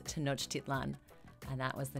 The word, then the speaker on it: Tenochtitlan: In that story, there was a mispronunciation of the Mexica capital city that they established, but it was a word that I actually knew. So to make that correction, the name of the city is Tenochtitlan.